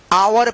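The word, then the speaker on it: hour: आर इसको क्या पढ़ेंगे आवर पढ़ेंगे। क्या पढ़ेंगे? आवर। अब देखिए अब कहेंगे आप यहां पे H तो ध्यान रखिएगा H जो है ना साइलेंट रहता है।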